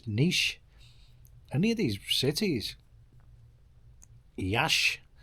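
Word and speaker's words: Iași: any of these cities, Yash, which is spelt Yassi, you know, and like if you go to Varna and Plovdiv or where else did we go?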